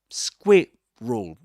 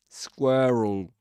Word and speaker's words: squirrel: So yeah, squirrel.